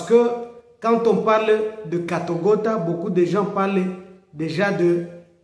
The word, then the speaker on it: Katogota: Parce que j'ai entendu beaucoup de gens parler de Katogota. Katogota, Katogota. Et il y a même ceux qui prononcent Katbogota, ainsi de suite.